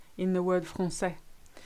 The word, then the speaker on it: français: You may have noticed this letter in the word français. That little squiggle called the cedilla is made to give the C an S sound. So maçon, français, garçon.